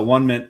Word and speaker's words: Onement: it's actually, but I had to ask the bartender, it's actually pronounced One Mint. It's One Mint.